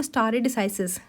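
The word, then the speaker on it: stare decisis: Under article 141 ऑफ the Indian constitution, the doctrine of स्टारे डिसाइसिस। इसकी pronunciation जो होती है वो होती है the doctrine of स्टार डिसाइसिस इज the principal supporting common law.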